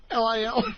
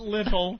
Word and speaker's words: Lil: L-I-L? L-I-L. L-I-L. Not little. It's Lil.